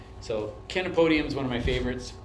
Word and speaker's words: Chenopodium: I always remember this one because it's Kenopodium. So CH in botanical terms is always pronounced hard, like kid or Ken. So Kenopodium is one of my favorites.